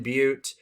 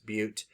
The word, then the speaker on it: Butte: heard of that glenn butte um not butt butte uh yuba madera to